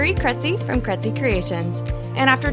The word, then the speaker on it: Krejci: It is spelled Krejci, and it's pronounced Kretzy. I realize not a lot of people know how to say that, but it rhymes with Betsy, and that's always helpful to tell people.